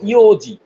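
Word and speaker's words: 四時: 4টা যখন বাজে তখন আমরা বলবো ইওজি। কি বলবো? ইওন না, ইওজি, শুধু ইয়োজি। ইওজি।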